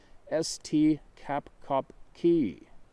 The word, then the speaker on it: este capkaki: the seminoles they are known as este capkaki pronounced s t capcop key the tall man so